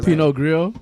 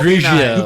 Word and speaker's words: Pinot Grigio: Pinot Grillo. Right. So Pinot Pinot Grigio.